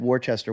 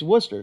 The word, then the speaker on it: Worcester: but if you went to Worcester and said warchester what would they say to you you're saying it wrong yeah it's Worcester so so originates from Britain Worcestershire so so